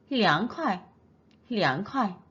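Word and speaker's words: 凉快: 그 다음 춥다 할 때는 렁 편하게 혀가 윗니 뒤에 붙습니다. 마찬가지로 凉快 윗니 뒤쪽에 혀가 붙습니까?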